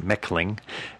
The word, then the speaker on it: Mechling: Lauren Mechling, her last name is spelled Mechling, but it's pronounced Mechling.